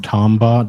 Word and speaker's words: Tombaugh: Tombaugh.